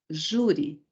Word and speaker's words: júri: Então, falando a palavra júri, sílaba tônica, penúltima sílaba. Depois, olhando para o final, terminada por I. Sendo assim, nós temos uma paroxítona terminada em I. Onde vai o acento? No ju e não no I, certo?